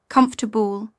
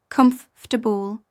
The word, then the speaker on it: comfortable: Comfortable British, comfortable, faster, dropping some sounds. American, comfortable, soft T and clear syllables.